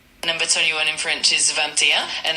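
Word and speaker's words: vingt et un: Number 21 in French is Vanta, and it's spelled V I N G T E T T U N.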